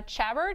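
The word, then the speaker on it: Chabert: name is Lacy uh chabbert or shabar I don't know that yeah shabar I didn't know how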